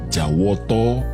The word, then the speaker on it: Jawata: jawa berasal dari kata jawata atau jawato dalam pengucapan bahasa Jawa yang artinya Dewata maka